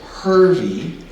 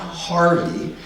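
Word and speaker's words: Hervey: was born in 1857 his middle name is hervy not Harvey and if you look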